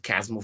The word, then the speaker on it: Chasmal: back of my mind, like as Chasm instead of Chasmal. yeah, and Mir had actually said to me, and this is how I remember it now, because she's like, you got to think of like a chasm, like because, and I was like, oh, because that's how that's spelled.